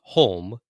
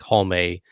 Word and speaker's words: Halme: independently, like Holme, or do you pronounce it as more like home, like JR? So JR goes with Holm. The Japanese ring announcer pronounces it Holme or Holme. Yeah. Neither is Finnish to actually know.